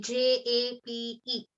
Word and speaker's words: जपे: So instead of, I know they have printed it, they have shown it as an A after the P, but it should be Jape.